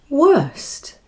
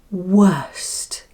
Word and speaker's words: worst: So, now the next word is worst. Remember, the mouth keeps open until you sound the last two letters. St. St. Say it like this. Worst.